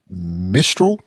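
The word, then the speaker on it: Mistral: couple of days ago from mistro is how everybody pronounces it mistro AI it came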